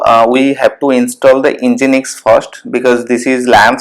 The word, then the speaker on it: Nginx: So now this is once it's updated, then we'll install the Nginx. So this is how it's pronounced. So let's install the Nginx now.